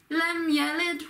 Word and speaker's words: لَمْ يَلِدْ: Qul huwa Allahu ahad, Allahu samad, lam yalid wa lam yulad. So lam yalid, again you've got basically every D sound on it has that same emphasis.